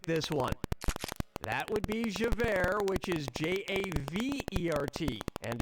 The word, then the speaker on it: Javert: one that would be javert which is j-a-v-e-r-t and is already pronounced as air you know two former